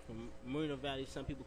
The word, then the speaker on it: Moreno Valley: It's, Murder Valley? The proper pronunciation is Moreno Valley. Moreno Valley, California.